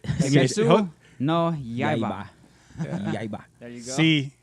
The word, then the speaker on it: Kimetsu no Yaiba: say it like you say when you speak in Spanish, like Say, Kimetsu no Yaiba.